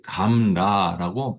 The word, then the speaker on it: gamla: 이게 감라라고 발음을 합니다.